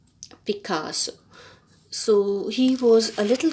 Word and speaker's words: Picasso: picasso uh picasso uh the pronunciation is picasso so he was a